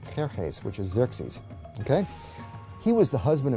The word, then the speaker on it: Xerxes: And the Greeks said Xerxes, which is Xerxes.